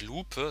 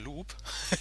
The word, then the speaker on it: Lupe: Und die gute Frau dahinter der Theke heißt nicht Lupe, sondern Lupe. Das wird ja Englisch ausgesprochen.